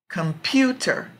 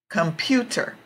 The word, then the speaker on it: computer: tomorrow tomorrow tomorrow okay same thing here computer computer so the strong part is in the middle so those are also